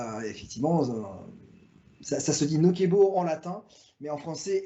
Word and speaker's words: Nocebo: que vous avez envoyé ben ça vous mettez bien la prononciation c'est nokebo alors quand je me suis